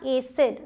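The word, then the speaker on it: acid: यहां एसिड। सी के बाद आई है इसलिए स। एसिड। क्लियर? ये बहुत इंपॉर्टेंट था।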